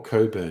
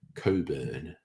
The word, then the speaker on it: Cockburn: pronounce it cockburn or Coburn because I've known people who have that as their name and they always say it's Coburn um I did see